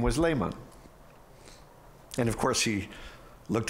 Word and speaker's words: Lehmann: My last name is Lehmann, spelled with two N's.